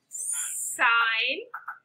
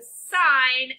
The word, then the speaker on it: sine: three trigonometric ratios right sign whole spelling is s int but when you see it on your calculator it's just going to look like sin don't pronounce it sin inside okay the sine of theta in this